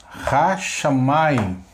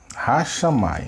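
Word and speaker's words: השמים: Então vamos transliterar isso daqui. Como fica agora? Tá? Ó, H, A, SH, A, Mem, A, Yod, I e o Mem.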